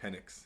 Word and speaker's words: Penix: Penix. Yeah, Yeah, Penix, Penix.